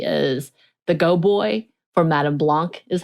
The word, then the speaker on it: Madame Blanc: and he apparently is the go boy for Madame Blanc is how they say it essentially he he